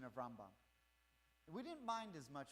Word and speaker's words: Rambam: Am, we're trying to phase out, is the mispronunciation of Rambam.